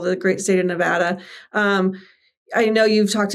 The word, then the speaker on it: Nevada: It is Nevada, not Nevada.